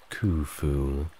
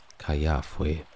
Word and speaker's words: Khufu: His full name, Khnum Khufu, means Khnum, protect me, while modern pronunciation is Khufu. During his time, it may have been more closer to Kayafwe, and later Khufu.